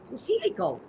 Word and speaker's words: Posillico: I always tell, when the people ask me to pronounce, I go, Posillico. And they look at me and I go, well, that's the Italian accent that's coming out.